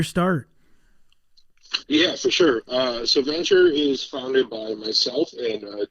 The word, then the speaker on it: Vennture: So Venture is founded by myself and two other guys, Jake and Rob.